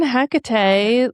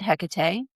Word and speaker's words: Hecate: Well, you write a lot of books on Hecate, like how were you called to work with